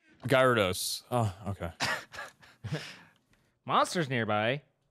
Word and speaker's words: Gyarados: so i was like okay i'll call it gerardos gyrados dorados gyarados oh okay monsters nearby say it ain't so